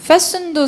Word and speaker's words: fasten: fasten도 스펠링 어려워요. F-A-S-T-E-N, T-E-N인데 T가 묵음이지. fasten.